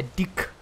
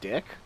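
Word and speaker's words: dijk: is derived from dutch because in dutch it's called a dick d i j it's called a dick yeah gi jk no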